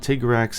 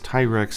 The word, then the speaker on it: Tigrex: to tigrex that's right it's not Tiger axe it's Thai rex and ice borne so I'm just